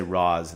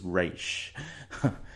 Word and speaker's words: Ra's: later someone will say Roz and then it's actually it's pronounced race they kind of did